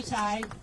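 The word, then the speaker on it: Tighe: Can you say your first and last name and spell it? My name is Ty.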